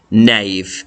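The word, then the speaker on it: knave: one's an interesting one the word is naive nave and it has a silent k so nave and that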